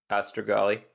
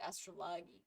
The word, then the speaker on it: Astrogali: Astrogali. Astrogali. I was mispronouncing. I said Astrai.